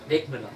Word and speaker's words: Wegmüller: Well, are you familiar with a man from Switzerland called, I'm going to grossly mispronounce his name, Walter Wegmüller. Wegmüller, yeah, you did it very good.